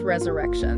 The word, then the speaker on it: resurre XXXtion: And pronounced resurrection.